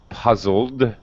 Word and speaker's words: puzzled: the l puzzle so now our e d has a d sound but no extra vowel sound puzzled okay puzzled okay